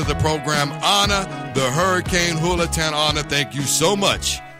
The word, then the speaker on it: Julaton: So for those who aren't familiar with me, my last name actually starts with a J, and so a lot of people would pronounce the J as the J, Julaton, versus it has more of that Spanish tongue to it. So the J is actually pronounced as an H, kind of like when you say Jose or Jesus, etc. So it's Julaton.